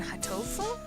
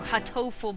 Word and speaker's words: Hatoful: So there's Hato, which refers to dove or pigeon, and then Hato as in heart, as in the English word for heart translated into sort of a Japanese pronunciation, but it's also hurt. Hato as in hurt.